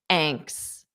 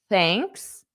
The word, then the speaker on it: thanks: you would just say anks. Anks. There's a difference between thanks and anks. Thanks, anks. So it's not silent. There are silent letters in English. TH unvoiced is not silent. It's unvoiced.